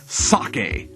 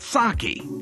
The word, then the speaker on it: sake: to jaegermeister and third for the record it's pronounced sake not sake sake not sake now there are five basic